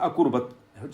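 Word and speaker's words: अकुर्वत: ना, किम अकुर्बत संजय, तो कुर्बत कोई शब्द नहीं होता, तो बाद में किम आपका छोटा सा उच्चारण होता है, अकुर्बत शब्द है संस्कृत में, तो बड़ा अच्छा है, वो मैं दे सकता हूँ।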